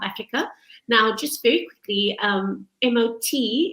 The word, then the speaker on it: mot: Now, just very quickly, MOT is pronounced MOT because it's actually a Norwegian word that means courage.